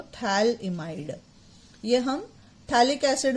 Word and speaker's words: Phthalimide: I call it children I call it एस थैली might इसमें pH silent है आपका है ना तो याद रखना थैलम बोलते हैं लेकिन आगे पीएच आता है अब इसको आप ट्रीट